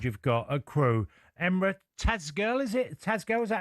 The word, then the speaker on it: Tezgel: Tell us about this 20-year-old you've got at Crewe, Emre Tazgirl. Is it Tazgirl? Is that how you pronounce it? Nailed it. Yeah, Emre Tezgel.